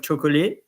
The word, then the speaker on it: chocolat: I'm writing this down don't pronounce the last letter unless there's an e at the end right voila and welcome